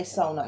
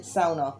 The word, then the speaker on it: sauna: like where you say sauna if you say sauna no no no no that is a big dunk you have to pronounce it sauna if you don't know that's what i just said it's a finnish one